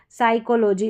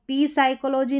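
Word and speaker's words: psychology: ये ध्यान रखें अलग से यहां पर पी साइलेंट है। यह भी नियम है। साइकोलॉजी इसको पी साइकोलॉजी नहीं पढ़ेंगे।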